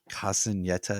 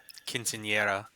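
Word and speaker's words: quinceañera: talking about but sarah is having her um castanetta is that my pronunciation quinceanera yeah okay if it's yeah i suck i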